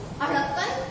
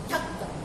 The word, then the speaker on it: ढक्कन: अढ़क्कन गलत है, सही उच्चारण होगा इसका ढक्कन।